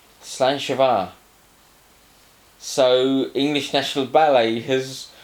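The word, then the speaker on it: slàinte mhath: let me get the i've got to pronounce this right otherwise i'm in real trouble and the spelling which will stick up here is nothing like what it sounds to us uneducated english people slan chavar so english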